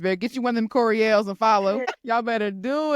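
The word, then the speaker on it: Courielle: part of my name but it's pronounced Corel and I'mma spell it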